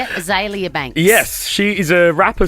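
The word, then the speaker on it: Azealia Banks: aelia Banks is that how you say it aelia Banks yes she is a rapper Swan I know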